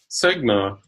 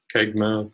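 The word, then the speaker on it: CEGMA: on the accuracy whereas cigna or kegmah depending on how you like to pronounce it gives you an indication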